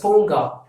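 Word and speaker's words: பூங்கா: And park, where you go to relax ourselves, and that park is called Ponga, Ponga. You have to pronounce this as Ponga.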